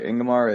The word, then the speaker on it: Ingamar: the least we have imamar from Sovereign I'm so sorry if I've butchered your name plus but happy to have you here no that works uh ingamar is the perfect pronunciation thanks everyone for having